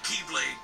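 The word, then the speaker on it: χ-blade: it means the x-blade it's just pronounced like keyblade even though it's just one keyblade ah the series is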